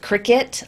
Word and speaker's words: Cricut: it's FPL and it's spelled cricket like the device, CRICUT.